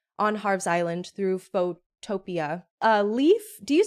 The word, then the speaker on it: Leif: Leaf, do you say Leaf or do you say Leif? I say Leaf. I believe the correct pronunciation is Leif, right?